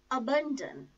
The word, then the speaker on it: abandon: Let us start with the word abandon. It has three syllables. First syllable is a, which is a low feeble sound, schwa sound. Ban, second syllable, and dan, last syllable. The stress is on second syllable.